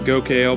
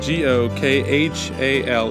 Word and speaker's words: Gokhale: Gokhale's name, and then we got started and I just completely went phonics works for me and pronounced it Gokhale because it's G-O-K-H-A-L-E, but it's Gokhale, and I screwed it up.